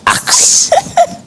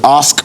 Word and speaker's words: ask: very common and it's axe i feel like kevin does this one so you don't axe or ask for things you ask for them i'm not sure when